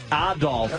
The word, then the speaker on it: Adolf: Adolf as the proper pronunciation.